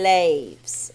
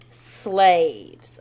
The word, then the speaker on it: slaves: When Vietnamese are pronunciating slaves, they say laves, okay? But it has an S at the beginning, and it needs to be slaves, S-L. Slaves, okay?